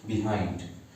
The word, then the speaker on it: behind: इसके बाद हम प्रीपोजिशन पढ़ेंगे बिहाइंड. लेकिन मैं बता दूं, इसका करेक्ट प्रोनाउंसिएशन बिहाइंड होता है, बिहाइंड नहीं होता.